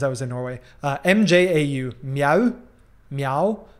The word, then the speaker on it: mjau: M-J-A-U, meow, meow, pronounced the same, but spelled very differently.